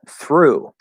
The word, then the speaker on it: through: This one is, again, a voiceless TH. We're going to go into the consonant. Thir. So you have to pull back into the And then here, the vowel is just Ough. It's just one vowel sound.